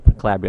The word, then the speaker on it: Calabria: Calabria. Am I saying it right? We've heard several Calabria.